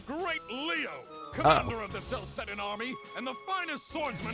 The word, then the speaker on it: Celceta: I was about to say, like, can I get somebody to say Celceta or something? I need to know how it's pronounced.